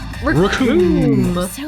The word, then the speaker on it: Recoome: Recoome. Rhymes with doom.